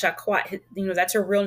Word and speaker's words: Jacquette: Her name is pronounced Jacquette.